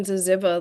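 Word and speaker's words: ZYZZYVA: I think um I I was published in Zaziva last year. That is how you say that.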